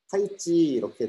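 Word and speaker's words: 太極: 그 다음에 이제 중국어 발음이 타이찌 이렇게 돼 있어서 타이찌라는 말로 쓰기도 합니다.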